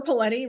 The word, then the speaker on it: Paletti: I am Paletti, rhymes with spaghetti, or all of that stuff I just talked about.